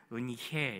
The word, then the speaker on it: 은혜: 말씀 한 마디는 바로 은혜라는 겁니다 은혜 은혜 예 그 제가 친한 어떤 선교사님은 굳이 은혜를 은해 이렇게 발음을 하세요 근데 제가 국어 사전을 찾아봤더니 두 가지 발음 다 이제 맞는 것 같아요 예 맞다고 이렇게 말했던